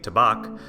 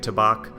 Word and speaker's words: Tabac: native German speaker that they do pronounce the second a with a a sound